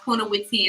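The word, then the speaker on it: Punnawithi: is like near the BTS station that's called Punawiti. I can't spell that out for y'all, but it's pronounced Punawiti.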